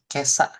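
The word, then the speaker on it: 今朝: Oke, jadi ini ima sama asa dibacanya jadi kesa.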